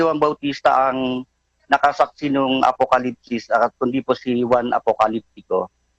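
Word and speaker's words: ἀποκάλυψις: kahulugan ng apocalypsis apocalupsis pero sa tamang pronunciation sa Greg ang ginamit kasi yung yung U no katumbas yun ng I sa atin eh apocalypsis pero Kung babasahin mo ang naglagay na paraan ng pagbasa nakalagay apocalypsis.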